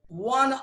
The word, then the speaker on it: one: এবারে দেখো ও কিন্তু ভাওয়েল, কিন্তু ও এর উচ্চারণ যখন প্রনাউন্সিয়েশন যখন ওয়া হবে, ও এর উচ্চারণ, তখন তার আগে অ্যান বসবে না। ও ভাওয়েল হলেও কিন্তু অ্যান বসবে না, সেখানে এ বসবে।